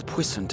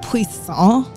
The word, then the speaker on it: puissant: It's puissant. Obviously. It's not puissant. It's puissant. Puissant. Obviously. Like croissant. Like croissant. Croissant.